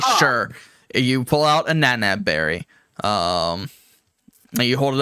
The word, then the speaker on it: Nanab: Berries are Nanab. very Yeah, sweet. it's called the nana fruit. Oh. Nana. Spell it.